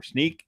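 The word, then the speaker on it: Snyk: from a third-party Source called Snick or sneak depending upon how you like to pronounce that kind of thing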